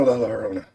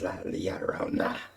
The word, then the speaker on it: La Llorona: Wait, the two L's does make a Y sound on it. I've been saying it wrong for years. I've been saying La Llorona. It's not La Llorona. It's La Llorona.